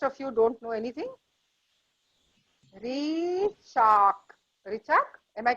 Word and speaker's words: Richa: Richa, R-I-C-H-A. It's just only that Richa.